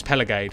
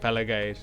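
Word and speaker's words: Pelagiad: town's name of it's It's pelagade we're calling it peligade not uh palagi Aid or whatever the they call it uh with that on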